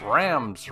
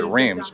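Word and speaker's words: Reims: wrong cross spelled r-e-i-m-s we would pronounce it Reams but that's not even close to correct behind me is the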